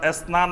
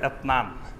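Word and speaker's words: اثنان: অঞ্চলের ভাষা আছে তো অনেক অঞ্চলে সা অক্ষর থেকে তারা তা উচ্চারণ করে অর্থাৎ এসনান বলবে না বলবে এতন সালাসা বলবে না বলবে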